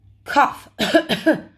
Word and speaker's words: cough: Cough.